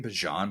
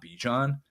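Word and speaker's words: Bijan: with ban and nii and I'm saying it Bon by the way because remember last year he like came out and said actually his name is pronounced Bon not bejon so if you feel like I'm pronouncing it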